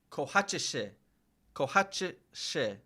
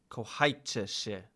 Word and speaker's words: kochajcie się: Kochajcie się. Kochajcie się. Kochajcie się. I was close though. I said kochajcie się.